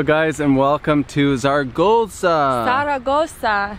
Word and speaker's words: Zaragoza: Zaragoza. Or as the locals say, Zaragoza. Zaragoza.